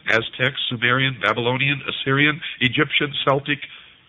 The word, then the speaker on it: Celtic: sumerian babylonian assyrian egyptian celtic are celtic some pronounce it aryan etc and with